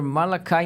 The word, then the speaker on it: Malachi: o que escreveu Father malakai Martin né O Padre e escreve malachi né você pronunci malakai procurem pelos livros dele